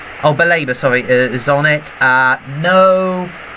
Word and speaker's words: Baleba: I can take this for Brungen, Lamptey, Webster, Dahu, Lallana, Welbeck, Baleba, how do you pronounce his name? Baleba, sorry, is on it.